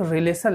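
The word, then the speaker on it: Rayleigh: अब क्या है, एक रिलेशन लिखते हैं, ठीक ना। रिलेशन का नाम है रेले, REILEIGH, रेले, स्पेलिंग देख लीजिएगा, रेले रिलेशन।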